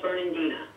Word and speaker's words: Fernandina: With the City of what's pronounce the name again? City of Fernandina.